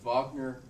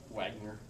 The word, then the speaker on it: Wagner: By the way, it is Wagner, not Wagner. I thought it was Wagner. I I've heard pronounced it as Wagner.